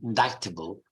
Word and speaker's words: indictable: So then you have the silent, so indictment and indictable with a silent C.